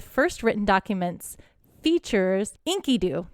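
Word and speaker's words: Enkidu: written documents the features Inky Doo that's how you say it Inky do nice who is a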